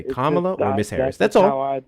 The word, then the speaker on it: Kamala: Well, if it's not one of those cases, then it will be easy as hell for you to just say Kamla or Miss Harris.